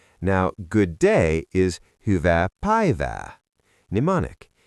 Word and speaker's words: päivää: Now, "Good day" is Hyvää päivää. Mnemonic: Imagine you are Pave-ing the day with gold. Päivää.